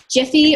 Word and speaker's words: GIF: Jiffy or GIF, it depends on how you say it.